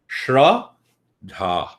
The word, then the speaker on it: Shraddha: Shraddha. 2 syllables. Shraddha. Shra means the truth. Dha means it comes from the intellect.